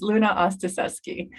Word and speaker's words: Luna-Ostaseski: And it's Luna-Ostaseski.